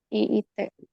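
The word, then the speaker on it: きいて: I-nya panjang, jadi Kite panjang ya. Jadi bukan Kite bacanya. Oh, Kiite.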